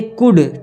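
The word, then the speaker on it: could: तोता है ठीक दे कुड टी एच वा दे सी ओ यू एल डी कुड क्या पढ़ा जाएगा कुड एल क्या होता है silent not फ्लाई एफ एल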